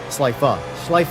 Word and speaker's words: Schleife: beat me on the Nordschleife. Schleife. I gotta get that through my head. Gotta pronounce the E.